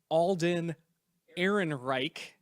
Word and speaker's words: Ehrenreich: pronounce his name correctly Alden Ehrenreich that's about is German of a name as you can get and then Donald Glover